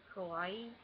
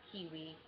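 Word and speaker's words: かわいい: And I learned how to pronounce it, and I know it sounds like Hawaii. Just think Hawaii. I always thought it was pronounced Kiwi.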